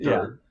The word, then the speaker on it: DRT: So it's obviously DRT, pronounced Yeah, dirt, makes dirt.